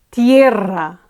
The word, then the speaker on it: tierra: En la tierra, tierra, tierra. Again, ends with a vowel and the penultimate syllable is accentuated, so all fine here.